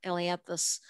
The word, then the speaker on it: Ailanthus: We don't have it in this part of Delaware yet, but the tree of heaven, Ailanthus, it's Ailanthus. I had to teach my computer how to spell it.